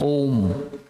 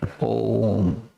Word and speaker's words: Om: That's why we utter Om. It has this 3 syllable. A, U, rolling. Ma, end.